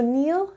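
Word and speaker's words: kneel: on your knees is silence it doesn't make any sound so k is silent let's say no i know okay so neil knelt she knelt down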